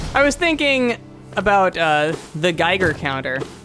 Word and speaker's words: Geiger: I forget what it was because I mispronounced Geiger counter as Giger counter.